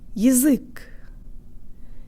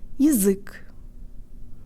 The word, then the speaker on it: язык: So here the ya will sound like y, y. Now the whole word. Jaw tan lips. У-ы-язык, у-ы-язык, язык, язык, язык.